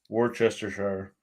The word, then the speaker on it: Worcestershire: to the Merriam-Webster Dictionary skip pronouncing the r altogether and the CE while you're at it and barely say the second or start the word off saying Wooster and then finish off the British Shire Worcestershire hmm all right